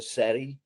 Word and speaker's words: Ceri: And then my daughter's name is Kerry, but we spell it Ceri. So everybody pronounces her Seri.